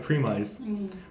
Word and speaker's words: premise: So if you look at the spelling of premise, it looks like premise, but it's pronounced premise, almost like promise.